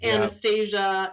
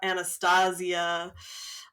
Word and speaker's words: Anastasia: and Danielle both like pronounce her first name multiple ways throughout the show. And I don't know if that's intentional or what, but they pronounce it differently like several times. Anastasia, Anastasia.